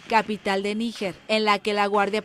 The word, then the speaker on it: Níger: completamente distinta O sea la pronunciación correcta en español amigo es níger así que lo que